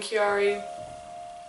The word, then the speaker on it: Chiari: It's spelled C-H-I-A-R-I, malformation, and learn and understand, because it's not a rare disease even though it's listed as one.